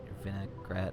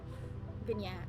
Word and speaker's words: vignette: Very interesting, vinaigrette, whatever how you pronounce this. Vignette.